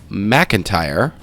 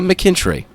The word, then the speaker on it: McIntyre: those another housekeeping issue Javon McIntyre not McKenry been calling him McKenry for quite some time now but I will fix that pronunciation uh this channel is